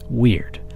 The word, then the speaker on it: wyrd: within yourself part one weird weird pronounced like the English word weird but spell the wyr Dean is a Norse